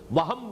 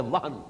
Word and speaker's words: وہن: note کر لیجئے، وہن، ویسے یہ کہ تلفظ میں وہم جو ہے میم کے ساتھ، یہ چونکہ ہمارے ہاں عام طور پر لفظ استعمال ہوتا ہے، آپ کو مغالط کرنا ہو، یہ نون کے ساتھ ہے وہن، اور وہن ہی سے